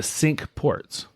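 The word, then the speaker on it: Cinque Ports: that was called the sink ports which is it was spelled c i n qu e ports but it's pronounced sink which is a really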